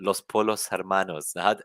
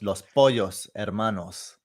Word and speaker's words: Los Pollos Hermanos: should be pronouncing this so polo is is italian but in spanish the double l becomes a yeah so it's los pollos hermanos los pollos which of